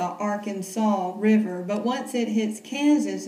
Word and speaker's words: Arkansas: There's a river when it's in Arkansas, and you can say it like that, the Arkansas River.